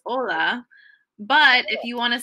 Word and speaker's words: hola: H means wave but in both cases the H is silent so finally what in